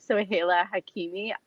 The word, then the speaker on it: Soheila Hakimi: I think it's hilarious when I see people try to pronounce my name. I know it's a really, really tough one. It's actually Soheila Hakimi.